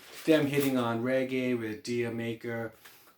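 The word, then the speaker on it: D'yer Mak'er: You got them hitting on reggae with Dia Maker. Some pronounce it Jamaica.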